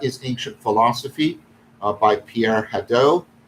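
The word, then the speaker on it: Hadot: uh called what is ancient philosophy by pierre haddow hedo is spelled h a d o t but this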